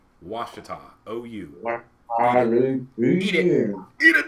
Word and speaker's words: Ouachita: It's O-U makes a W sound. Ouachita.